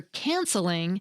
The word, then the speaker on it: canceling: We don't do it for "canceling" because the stress is still on the first syllable: "CAN-cel-ing," just like "CAN-cel."